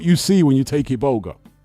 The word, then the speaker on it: Iboga: Now, Iboga is spelled with an I. Iboga.